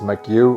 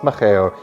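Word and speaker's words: Mageu: Hey, so in the next section of this video, I pronounce the drink as Makiu when it's been brought to my attention that it's actually pronounced Macheo.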